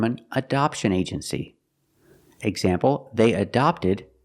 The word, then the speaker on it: adopt: Adopt with the open sound. The first syllable is a schwa, closed sound, adopt. And the second syllable is the open sound, ah, like hot and stop.